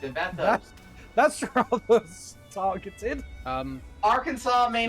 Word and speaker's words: Arkansas: Well, no, Well, it's actually because- technically pronounced Arkansas.